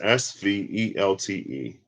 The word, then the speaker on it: svelte: pronounce that word hey siri how do you pronounce s-v-e-l-t-e i found an answer it's displayed on your